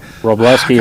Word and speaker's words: Roblewski: public forum nobody does it's always like robleski is how it's pronounced yeah so I hope